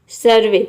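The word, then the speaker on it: survey: सर्वे, सर्वे means होता है सर्वेक्षण। तो ऐसे वर्ड्स है, ये 4-5 ऐसे वर्ड्स है जिसमें हम ई वाई को ए प्रोनाउंस करते हैं।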